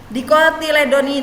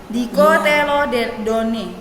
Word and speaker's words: Dicotyledonae: Dicotyledoni, tulisannya bahasa Latinnya kayak gini. Dicotyledonae, tapi bacanya dicotyledon. Dicotyledone.